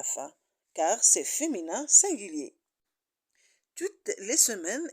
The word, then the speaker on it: toutes: car c'est féminin singulier toutes les semaines ici aussi on a un E et on prononce pas le S à l'heure on dit